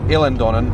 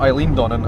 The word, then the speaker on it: Eilean Donan: Just to clarify on my mum's bad pronunciation of that, it's actually Eilean Donan, not Eilean Donan as she wrongly interpreted it.